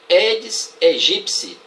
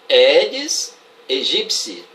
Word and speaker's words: Aedes aegypti: A pronúncia correta desse cara aí é Aedes aegypti. Eu ainda não ouvi nenhuma pronúncia correta nos telejornais. Vocês já ouviram? Repetindo, Aedes aegypti.